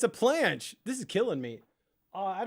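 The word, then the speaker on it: planche: working towards why the she's saying it wrong it's a planch and she's calling it the plache I'm working towards plet guys she's wrong it's not a plache it's a planch this is killing me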